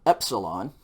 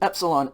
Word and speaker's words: epsilon: delta like dog dog next letter is called epsilon and epsilon is a short e sound what would that be something like egg epsilon short e and